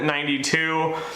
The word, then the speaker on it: XCII: I'm going to cover Quinn that 92 I'd spelled with like an axe CI I quick story and